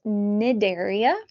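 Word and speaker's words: Cnidaria: will talk about nidaria the sea is silent it is nidaria and it is named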